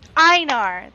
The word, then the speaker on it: Einar: Einar! There we go. Okay, so you don't pronounce the E. You just pronounce the I.